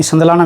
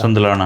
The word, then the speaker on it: संदलाना: Griffin की किताब में, वो जंडलाना लिखा हुआ, जंडलाना नहीं संदलाना मिलेगा, संदलाना। हाँ, तो ये 12 गाँव थे।